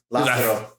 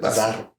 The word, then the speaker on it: Lázaro: Lázaro. Lazaro? I thought it was like Lazaro. No, Lázaro. You don't how do you say R's? Huh? Lázaro. Lázaro. It's only one R.